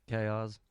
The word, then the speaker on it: Kozz: What are some things that truly mold you to be excuse me, how you pronounce it again? Chaos. Chaos.